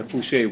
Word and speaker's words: Foucher: then the assistant treasurer Foucher. Did I pronounce that right? Fuchcher. Fushcher.